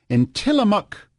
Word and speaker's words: Tillamook: Let's go to Shelley in Tillamook, Oregon.